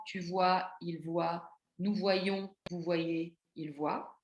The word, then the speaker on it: voyons: La particularité de voir, c'est qu'il a le Y pour le nous et le vous qui se lit y comme une semi-consonne. Nous voyons, vous voyez.